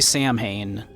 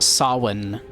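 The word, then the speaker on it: Samhain: cool, you don't say s You don't say Sam Hayne. That is not Sam Hane. That is pronounced sawin.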